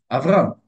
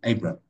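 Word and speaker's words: אַבְרָם: Avram.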